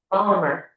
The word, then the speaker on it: Volmer: Volmar? It's like Palmer with a V. Volmer.